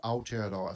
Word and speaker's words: Aotearoa: How do you pronounce it again? PvPA, PvP Aotearoa.